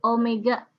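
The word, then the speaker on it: ω: Omega, dibacanya omega ya, W.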